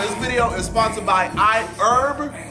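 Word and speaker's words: iHerb: video is sponsored by I herb it's i h e RB but herb is how you pronounce it but anyways I want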